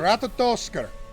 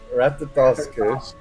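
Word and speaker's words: Ratatoskr: How do you pronounce it? Ratatosker. Ratatosker.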